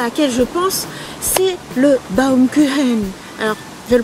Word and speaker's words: Baumkuchen: B-A-U-M, normalement ça se prononce Baum. Baum. Et après le CH en allemand se prononce un peu comme un R. Donc ça fait normalement Baumkuchen.